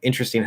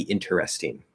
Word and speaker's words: interesting: no not informal um so the word interesting has like three or four pronunciations um it just depends it doesn't matter um fully enunciated it would be interesting interesting interesting um that can reduce um to interesting right because we have nt plus vowel which doesn't always